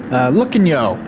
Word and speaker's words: Lucanyo: Lucanyo is how that is pronounced.